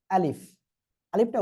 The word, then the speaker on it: ألف: আলিফটা উচ্চারণ করতে হবে কিভাবে? আলিফ। প্রথমে আপনি আলি এটা বললেন, এবার শেষে কি আছে? ফ আসে, তাই না? এখন এই জিনিসটা আপনারা কি করবেন জানেন? এই শেষে যে ফ বা এটাকে আপনারা উচ্চারণ করবেন নিচের ঠোঁটের পেট উপরের দুই দাঁতের আগার সঙ্গে লাগিয়ে। দেখেন আমি কিভাবে উচ্চারণ করি, আলিফ, আলিফ। আর বাতাসটা বের হবে সামনের দিকে, আঙ্গুল রাখলে বোঝা যাবে যে বাতাস বের হচ্ছে।